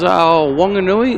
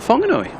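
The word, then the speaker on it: Whanganui: New Zealand, the uh the wh is still just pronounced as a W. So it is Wonganui, not Fonganoi.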